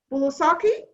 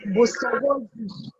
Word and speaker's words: Busobozi: With that, I welcome Miss Busobozi. Did I pronounce it correctly? No, you did not. Busobozi. Say that again. Busobozi. Busobozi. Yes. Yes, right.